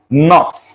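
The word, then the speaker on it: knot: So coming here, this is pronounced not. Not. This K is silent.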